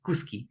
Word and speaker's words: kuski: Ya, bueno, aquí es Aimurai y aquí es Kuski, ¿ya? Porque Kushki, en cambio, es dinero, ¿ya? Entonces, Kuski, y pronunciamos Kuski.